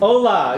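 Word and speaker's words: hola: the other way I said it wrong it'sa Ola yeah yeah not hero okay okay yeah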